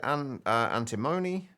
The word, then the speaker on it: antimony: The research, the Cambridge Dictionary pronounces it antimony.